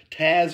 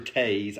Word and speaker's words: Taze: I've always said Taz, like the Tasmanian devil. I don't know why, but it just seems like, you know, it could be Taze, because that's kind of like more how it's spelled.